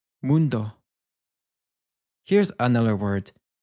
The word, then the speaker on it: mundo: Mundo. We have a little bit of a distinctive difference here because the U in Spanish is pronounced as a double O. So we get this U sound. Mundo.